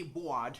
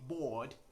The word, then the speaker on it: board: That's why in the word BOARD you do not say bored, right? You say bored.